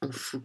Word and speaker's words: Emphoux: la lumière et oui surtout merci beaucoup Olivi en fou que ça s'écrit e M P h o u X et ça se prononce en fou voilà merci beaucoup Olivier bonne soirée oui bonne